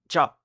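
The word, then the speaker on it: จะ: บ า ท Consonne initiale ja, voyelle A court, donc ja. Il n'y a pas de signe de tonalité, la syllabe est morte puisqu'elle se termine par une voyelle courte, la consonne initiale est moyenne, donc le ton est bas.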